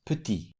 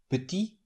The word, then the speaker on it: petit: In the first word, the final T is silent puty, but it's pronounced in the derivative word put, which in this case is the feminine form of the adjective. What makes the final consonant pronounced is the vowel e added at the end. So the masculine form is put with silent t at the end and the feminine form is with pronounced ty petit.